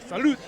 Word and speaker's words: salute: Yeah, but if you see any Italian shows, they say salute, but it's not with a D, it's with a T. It's kind of more like a salute.